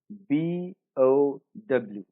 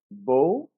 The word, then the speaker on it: bow: We have a word spelled B-O-W. Now you can pronounce this as bow or bow.